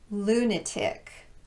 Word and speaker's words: lunatic: They're all stressed on the first syllable with the exception of the last one. Catholic, bishopric, politic, arsenic, lunatic, rhetoric, turmeric, and arithmetic.